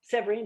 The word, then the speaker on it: Severine: And Severine is just a name. It rhymes with queen, and to me, she had queenly qualities, and et cetera, things like that, reasons like that.